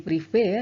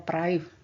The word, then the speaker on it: privé: Jadi privé ya, jangan dibaca private. Jadi tetap dibaca privé sesuai dengan ejaannya.